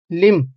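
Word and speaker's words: limb: लिम यहां पर B silent है इसलिए इसको यहां मैंने अलग से लिखा हुआ है। लिम होता है इसकी प्रोनंसिएशन।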